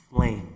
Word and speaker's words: Flame: And of Flame, not flames. Flame. That's it.